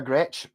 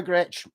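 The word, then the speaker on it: Gretsch: and stuff like that because he knew how to spell it because if you've never under Gretch you've probably never looked up and gone it's GRE t s t h the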